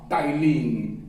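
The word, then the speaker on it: ptyalin: पहले लोग कहते थे, जब हम स्टूडेंट थे उस समय उसका नाम था टाइलिन। टाइलिन, पी से शुरू होता है स्पेलिंग, पी से, PTY।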